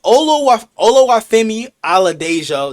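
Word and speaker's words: Oladejo: Um Olo Olo Dejo, that's how you pronounce his name. Ola Dejo.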